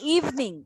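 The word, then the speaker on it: evening: ইন দ্য ইভিনিং, এটার উচ্চারণ ইভিনিং না, ইভিনিং। উচ্চারণ কি? ইভিনিং, ইভিনিং না, ইভিনিং। দুইটা ই আছে, একটা উচ্চারণ হবে, একটা উচ্চারণ হবে না।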